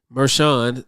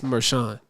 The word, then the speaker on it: Merchan: hearing it in the news and they was pronouncing it meran so I was when I was saying Merkin I'm like that's not how you pronounce that it's meran okay interview that Maran should shy away from